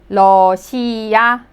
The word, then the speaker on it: 러시아: The first syllable, it has L and O, lo. The second syllable, S and then E sound, so she. The third syllable, you could simply pronounce the vowel, A, 러시아, Russia.